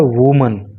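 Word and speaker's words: women: करते उसको करते हैं एम ई N spelling change कर देते हैं और प्रोनंसिएशन भी इसका चेंज हो जाता है फिर हो जाता है यह वर्ड वमन तो वुमन एक महिला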